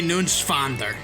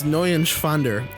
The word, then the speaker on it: Neuenschwander: You didn't pronounce it right. That's up. Anthony Nunschwander. It's N-E-U-E-N. It's Neuenschwander.